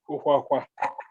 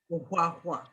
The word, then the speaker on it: Ohwahwa: First of all, let me correct my surname. It's difficult for people to pronounce. It is Ohwahwa. Ohwahwa.